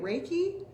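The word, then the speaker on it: Reiki: services and different things we have reik how do you say it raiki we have raiki raiki is starting in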